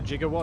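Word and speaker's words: gigawatt: do we need a jigawatt as well uh sure H 1.21 gigs I don't know why he uses the soft G on that it's weird aren't we all oh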